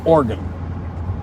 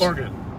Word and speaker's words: Oregon: on this I guess the correct pronunciation is organ not Oregon instead of three I guess Oregon Oregon I don't think that's right but it might be I know that the